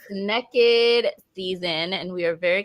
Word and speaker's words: Nekkid: Nekkid, pronounced Nekkid, is a readathon created and hosted by Black Prose Book Club that highlights Black love and Black romance.